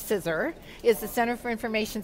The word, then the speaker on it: CISR: CISR, which we pronounce CISR, is the Center for Information Systems Research.